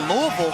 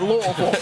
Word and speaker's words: Louisville: on Kentucky Kentucky at Louisville give me that moment one more time I'm sorry at I feel like you have to say it like you got some cotton in your mouth Louisville has already locked up